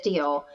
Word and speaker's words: Diehl: if you ever wonder how to pronounce my last name it is deal but my dog's name